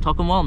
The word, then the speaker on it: Tocumwal: up in the uh token wall talking token one that's how they pronounce it and you are allowed